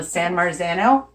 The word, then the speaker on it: San Marzano: no I want to say it right la San Marzano cans of tomatoes they're from Italy and they